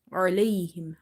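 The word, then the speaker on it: عليهم: Ain is from the middle of the throat. Try producing it from the middle of the throat. Try pronouncing alayhim, alayhim. If you say alayhim, then it will be from the lower part of the throat and it will replace itself with alif or hamza.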